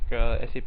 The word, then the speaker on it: SAP: So SAP AG simply means SAP Incorporated. SAP should be pronounced as SAP, not SAP.